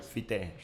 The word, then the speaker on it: Fité: Fite, esa es la pronunciación correcta.